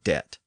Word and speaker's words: debt: time but of course today we spell that word with a b d EB T so where did that b come from well we can